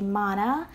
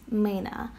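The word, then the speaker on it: mână: hand in Romanian but they pronounce it wrong they say Mana it actually is Mina so that's just a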